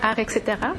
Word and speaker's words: Art xterra: art ca en fait ça se prononce art et cetera comme art etc oui sauf que bon